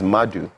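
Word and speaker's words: Nmadu: The N is silent, so it's Madu.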